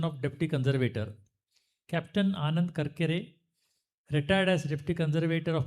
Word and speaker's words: Karkare: Now I spelled it correct, pronounce it correct. This is a brief biodata of Captain Anand Karkare.